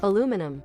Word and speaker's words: aluminum: Because it's a rare example of a word that's both spelled differently and pronounced differently. Aluminum.